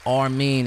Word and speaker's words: R-Mean: It's Armin. It's spelled the letter R and then mean, like a mean motherfucker.